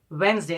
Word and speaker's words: Wednesday: This is called Wednesday. In this word, the letter D is silent.